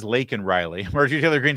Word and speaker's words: Laken Riley: It's not Lincoln Riley. Her name is Laken Riley.